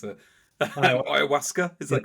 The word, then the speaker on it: Ayahuasca: I mean, well, so what were your actually, for any listeners that haven't heard of, I can't even pronounce it. Ayahuasca, is that correct?